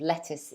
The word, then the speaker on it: lettuce: scientific over 90 of lettuce is water yeah so yeah this one is a common problem for students remember how to pronounce it la tis lettuce lettuce try it again